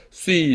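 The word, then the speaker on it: σύ: 그 다음에 2인칭은 이거 수라고 하지 마세요. 처음부터 이렇게 습관을 잘 들여놓으셔야 됩니다. 수이, 수, 소이, 세 이렇게 되는 거예요. 수이, 윕실로는 위 발음 나요. 위. 그래서 시그마가 시옷이니까 이게 수이가 됩니다.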